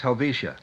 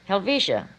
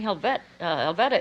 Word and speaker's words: Helvetia: And it's pronounced Helvetia. Helvetia. Now, I would have said Helvetia, probably. You see, and I'd have been Well, really in trouble again. They used to call me Helveta at school, Helveta.